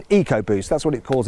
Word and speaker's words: EcoBoost: little bit confusing, because when Ford uses the letters ECO and puts them before the word boost, it pronounces them as eco, as in EcoBoost.